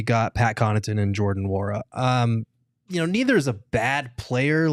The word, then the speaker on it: Nwora: Nwora. Nwora. Yep. So the N isn't silent. You just have to go Nwora.